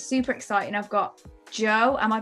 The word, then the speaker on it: Jeaux: with god and it's super exciting i've got joe am i pronouncing it right yay okay so tell us